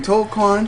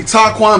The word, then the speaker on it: Toquon: I like the way she say my name, Toquan. Toquan. That's cool. It's actually Taquan, but I'll let you get away with it because it sounds sexy.